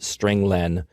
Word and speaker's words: strlen: I pronounce it stringlen because it means string length.